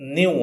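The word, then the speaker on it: knew: ರೂಪವಾದ ನ್ಯೂ ನ್ಯೂ ಬರಬೇಕು ಇದನ್ನು ಉಚ್ಚಾರ ಮಾಡುವಂತದ್ದು ನ್ಯೂ ಅಂತ ಈ ಕೆ ಅಕ್ಷರವನ್ನು ಉಚ್ಚಾರ ಮಾಡುವುದಿಲ್ಲ ನ್ಯೂ ಅಂತ ಹೇಳ್ತೇವೆ ಸರಿನಾ ಸಾಮಾನ್ಯವಾಗಿ ನಾವು ಈ ಸ್ಟ್ರಕ್ಚರ್ನ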